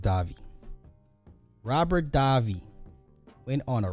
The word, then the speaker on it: Davi: Robert Davi Robert Davi Robert Davy I think it's pronounced Davi Robert Davi went on